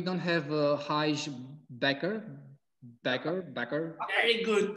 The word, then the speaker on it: Bakker: book unfortunately we don't have a hajj backer backer backer very good pronunciation fantastic thank you i was doing my